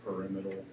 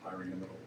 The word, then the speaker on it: pyramidal: I always say trigonal pyramidal, but I think it's pronounced pyramidal.